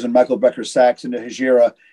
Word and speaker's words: Hejira: It is Hejira.